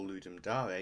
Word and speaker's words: Ludum Dare: Ludum Dare, or Ludum Dare, if you wish to use the correct Latin pronunciation, is two separate but